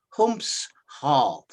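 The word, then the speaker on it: Humshaugh: it was the uh the pronunciation it's humph half humps half and beaten powell didn't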